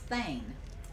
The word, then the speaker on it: thane: and they would have titles yeah so it's pronounced thane it's pronounced like t-h-a-n-e and it's very much